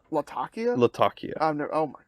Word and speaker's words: Latakia: It sounds weird that I would, it's like when someone says Latakia and then someone else says Latakia, and I'm like Latakia.